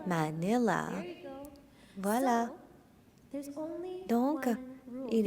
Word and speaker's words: Manila: Si vous voyez le nom, la lettre A, c'est comme AH, comme Manila. 3, 2, 1, Manila.